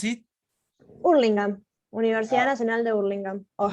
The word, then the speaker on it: Hurlingham: How do you pronounce it? Hurlingham.